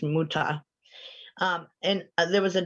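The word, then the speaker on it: Mütter: may have heard of this next thing the miter museum or sorry it's pronounced muta museum i always want to say miter but it's muta um and there was a doctor thomas muta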